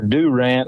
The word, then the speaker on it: Durant: casino the next night in Durant or do rent as the locals say and and it was